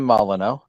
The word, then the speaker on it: Molyneux: Well, what I'm hoping for is because our friend of the show, James Molyneux, did I say it right? Jim Molyneux, yeah.